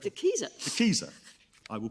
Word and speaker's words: De Keyser: De Keyser. De Keyser. I will call it De Keyser. No, you needn't. I mean, I may be wrong. I'm often wrong. You say De Keyser, I say De Keyser.